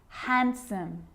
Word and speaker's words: handsome: D yep it can be silent to Wednesday handsome sandwich so I'm not pronouncing the D in sandwich I'm just pronouncing